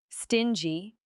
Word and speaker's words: stingy: Stingy. Yes. Stingy, pronounced with a soft G, like Jim.